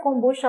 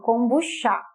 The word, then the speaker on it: kombucha: aqui na língua portuguesa, você juntando seria kombucha, né, e como tem esse acento, você acentuaria ali no final, então você colocaria a sílaba tônica, né, então colocaria essa entonação, kombucha. Mas a gente sabe que na língua portuguesa não existe aqui essa acentuação no final.